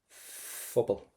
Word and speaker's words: Phobal: So every time we have a PH, we want to pronounce that as the letter F. So tá sé ag freastal Phobal.